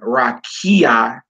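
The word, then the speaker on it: רקיע: stressed on Rue and rakia is stressed on key god bola is stressed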